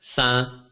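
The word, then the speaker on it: 三: 3 is pronounced as sa, sa.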